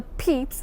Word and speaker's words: Pepys: Samuel Pepys, it normally pronounced the Pepys, was the son of a London tailor.